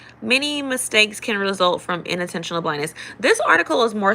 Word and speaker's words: inattentional: Inattentional blindness and individual differences in cognitive. Unintentional. I do have a southern dialect, so I might be pronouncing it wrong, but it's spelled INATTE. So not unintentional, inattentional.